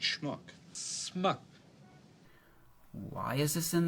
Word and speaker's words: schmuck: the word schmuck schmuck it's not smock it's schmuck smuck why is this